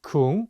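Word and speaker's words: 궁: let's take another word Kung which usually means Palace this word has to ooVoo it's going to have more of an u sound a good way to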